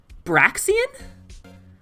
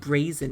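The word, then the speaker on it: Braixen: Well, I guess it still has the stick, but you pronounce the X. Oh, you do? Braxian? Oh my god, my whole life I've been saying like Brazen or Brazian.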